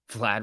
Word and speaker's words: Vlad: raytheon there you go vlad rhymes with bad and that makes me